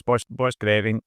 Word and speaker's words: Borchgrevink: of one of the it looks much more difficult than it is. It just sounds as it reads. So it's borch borch grave ink.